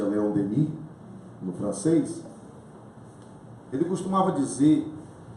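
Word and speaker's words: Léon Denis: De acordo com o apóstolo do Espiritismo, Leon Denis, que a gente pronuncia Leon Denis no francês, ele costumava dizer que a gente dorme na pedra, sonha na planta, agita-se no animal e acorda no homem.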